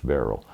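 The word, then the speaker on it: Baril: odd name came from the owner Barry b-a-r-i-l which of course an English-speaking person would pronounce Barrel and um I do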